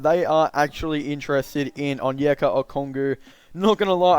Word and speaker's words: Onyeka Okongwu: and looking a lot I didn't actually know how to pronounce his name I thought it was a bit different than that but apparently it is on yoga or Congo but yeah again this